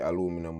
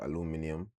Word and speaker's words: aluminium: What them say, Americans say aluminum, and then the British people them say, and the rest say aluminium.